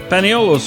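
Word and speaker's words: paniolo: Paneolos is the way Españoles came to be pronounced in the islands.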